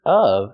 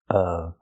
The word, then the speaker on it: of: pronounced fan of baseball the word of is pronounced with a short uh sound like cup and up not o like no and go not o but of of I'm a fan of of remember the short sound